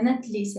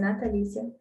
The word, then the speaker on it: Natalícia: Não é Natlícia, é Natalícia.